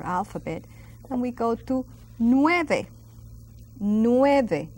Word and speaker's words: nueve: And we go to nueve. Nueve. Now notice I will pronounce every single letter, each letter.